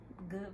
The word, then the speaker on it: Goode: So, I have a website, Good Vibes. It's just GOODE. That's my last name. So kind of play on the last name, but the E is silent.